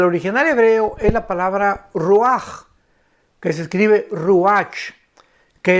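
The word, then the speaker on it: רוח: Es interesante que la palabra vientos aquí en el libro de Daniel, en el original hebreo es la palabra ruach, que se escribe ruach, que es la palabra para espíritus.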